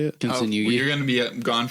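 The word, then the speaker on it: Kintsugi: Oh, Kinsunugi.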